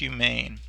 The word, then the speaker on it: humane: confused with is that this word looks like the word human meaning a person but it isn't it's a different word and it's a different pronunciation it's pronounced humane in the past zoo